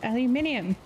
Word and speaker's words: aluminium: has it right well apparently I say it wrong since I've been in the US for so long yes yes you do it's aluminium see this is why